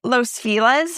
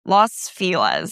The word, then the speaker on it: Los Feliz: It's like Los Feliz. I'm like, but it's spelled Feliz. Nope, Los Feliz.